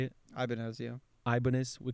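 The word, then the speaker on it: Ibanez: Ibanz. Yeah. Ibanis. We call it Ibanis in Brazil.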